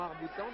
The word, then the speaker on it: arc-boutant: On prononce pas le C dans arc-boutant, dit la route, moi je veux bien.